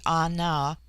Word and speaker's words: An: bullar Litton chapter 10 the word Ana pronounced broadly Ana corresponds with our plural